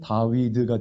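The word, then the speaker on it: דוד: 첫 번째 단어의 발음이 다. 중간 게 with. 그 다음에 드입니다. 그걸 이제 지금으로 하면 다위드가 되죠.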